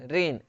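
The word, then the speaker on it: reign: तो आर ई आई जी एन, रेन, रेन का मतलब हो गया शासन, तो यहाँ पे जी क्या है, साइलेंट है।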